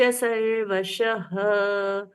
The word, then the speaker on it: सर्वशः: सर्वशः ये भी रस्व। पावना नीच सर्वशः, शह लास्ट में विसर्ग है, उसका ह जैसा उच्चारण।